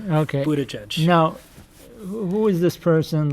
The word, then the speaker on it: Buttigieg: I think his supporters have a chant "boot edge edge." Okay. Buttigieg.